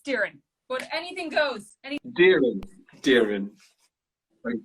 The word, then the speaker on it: Doireann: But I say Doireann, but that's incorrect, isn't it? Unfortunately, it is. But I have had a lifetime of incorrect pronunciation, so don't worry. You just got to join the club, the Petfix Club. It's Doireann. It's Doireann.